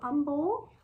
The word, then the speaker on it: Humble: eight is humble so you don't really pronounce it h so humble there so there's something